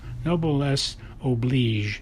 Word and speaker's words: noblesse oblige: I think it's noblesse oblige.